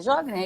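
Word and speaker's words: Sjögren: se não me corrija a síndrome de sjogren é jovem é isso mesmo tem vários tipos de pronúncia porque é o nome alemão mas pode usar cartão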